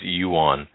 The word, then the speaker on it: yuan: you know what's what's your problem with with pronunciation with the some of these it's Yuan and to Charlie who has sent me I